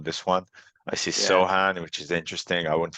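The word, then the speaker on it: Sochan: Is it Sohan or Sokan? Do you know I how think it's pronounced Sohan. Sohan?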